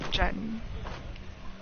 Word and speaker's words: diyan: Diyan. Because the proper spelling of it would be like D-I-Y-A-N, so Diyan. But you'd pronounce it as Jan.